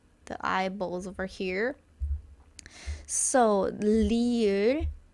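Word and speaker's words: 리을: It's not like R or L, but they are the most similar pronunciation in alphabet, okay? So Try It's like the flick on the tongue on top of your mouth.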